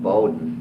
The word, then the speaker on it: Bowden: And Ambrose died in 1897, and he was married to Mary Ann Bowden. My grandfather pronounced it, but I pronounce it Bowden, B-O-W-D-E-N.